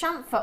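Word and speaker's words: chamfer: Pronounced shamfer.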